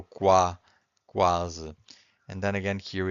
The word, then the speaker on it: quase: Because here we can hear the U. The U is not silent. But if you have Q-U-E, the U is silent. Quente. If you have Q-U-I, the U is also silent. Quinto. But if you have Q-U-A, that's in this case you can hear the U, right? So quase.